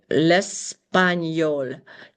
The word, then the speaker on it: l'espagnol: Okay, so la chimie, l'espagnol. Actually, yes, l'espagnol. And when you have a G and an N in French, you pronounce it like an N and a Y.